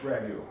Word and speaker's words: ragout: no you're thinking brand-new same pronunciation is different spelling this year's French ragu are AG ODT they